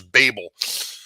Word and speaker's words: Babel: i've actually heard somebody pronounce our name in the germanic which is babel he says that's not